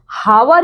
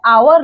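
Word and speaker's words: hour: जब आप इसको बोलते हो ना तो ये हावर या हॉनेस्ट नहीं होता है। ठीक है? अगर ये एच की तरह एच क्या है? आपका कंसोनेंट है। ठीक है? लेकिन जब आप यहां पे आवर लिखोगे और जब इसका प्रोनाउंसिएशन करोगे तो कैसा प्रोनंसिएशन होता है? आवर होता है।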